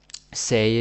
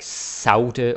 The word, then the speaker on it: sagde: Basically, the D is silent, right? And the G is either silent or it's more like a Danish J or an English Y, right? So say, don't say sagde or sagte or anything like that.